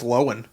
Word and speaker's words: Lohan: amanda bynes yes yes lindsay lohan so apparently it's lowen excuse me yeah no no